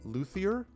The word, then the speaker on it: luthier: In a later fellowship phase, you could return to the same, I'm going to mispronounce this, luthier or luthier?